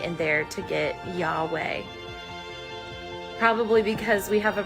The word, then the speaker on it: Yahweh: consonants I got it when pronounced without intervening vowels it actually sounds like breathing y-h for inhale and